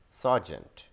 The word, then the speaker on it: sergeant: Sergeant. We don't pronounce an R in it.